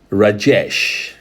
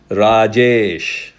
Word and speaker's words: Rajesh: Rajesh. That's how most of the Westerners use. In India, we use Rajesh.